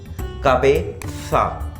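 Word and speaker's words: cabeza: Head को बोलते हैं ला कबेसा, कबेसा, जेड जेता, ला कबेसा, ठीक है।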